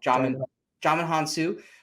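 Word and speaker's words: Djimon Hounsou: first name because i would say it wrong john hansu he's great and that's kind of like the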